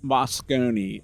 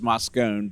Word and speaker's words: Moscone: We're back at HumanX here at the Moscone Center, and it is pronounced Moscone. According to Amanda, it was Moscone, but now we got it right.